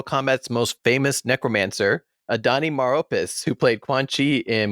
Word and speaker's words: Maropis: also have mortal kombat's most famous necromancer adani maropis who played quan chi in mortal kombat conquest